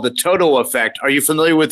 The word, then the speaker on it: Toto: In fact, I've heard of another term called the Toto effect. Are you familiar with that term? How do you spell it? Is it T-O-T-A-L? No, T-O-T-O. Toto, like Dorothy's little dog.